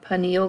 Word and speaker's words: pineal: So we'll start with one that I find kind of interesting, the pineal body, the pineal gland, or pineal gland, depending on which way you want to pronounce it.